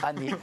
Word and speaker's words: Hanet: Merci à Annette, je l'ai bien prononcé. Et non. Et c'est Année.